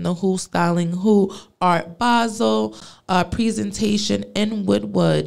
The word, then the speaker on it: Basel: also just looking to connect with Brands art basil Basel I'm sorry I can't say it wrong Art